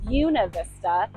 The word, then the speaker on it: Buena Vista: pronunciation I have a video about why locals pronounce what looks to read wav Vista as buav Vista Colorado and how you can also just say